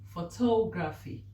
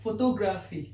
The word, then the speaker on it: photography: Photography. I'm not going to write how it's being pronounced because I don't have space there. So people call it photography. No, it's not photography, it's photography.